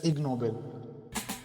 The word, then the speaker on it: Ig Nobel: So as Ashmita mentioned they are written as IG Nobel prizes. So together combined it's pronounced as igno.